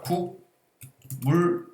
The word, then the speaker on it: 국물: 합쳐서 발음을 하면 자, 국 물 이렇게 발음이 되지만 합쳐서 발음하면 국물 이렇게 발음이 되는 거지. 그까 받침 분명히 기억이었지. 근데 국물할 땐 이응으로 돼 버리네.